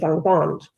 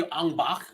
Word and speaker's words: Angband: seek union with her amidst the siege of Angband. Andreth. What did she just call it? Angband. Was she watching a Thai movie, Angbak? Jesus. No, this is because of the previous words. The pronunciation gets mixed up because of the pretentiousness